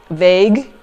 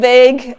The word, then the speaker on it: vague: speaking to someone and I said well what you said is rather vagu. And then he was like what? And he said do you mean vague? And I'm like, ah, vague. Okay, so that's how it's pronounced.